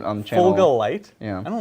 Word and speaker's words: Fulgurite: You want a unit of 10 for your Fulgurites.